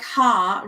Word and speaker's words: Haar: But mild rhymes with child, just like Haar rhymes with Paar.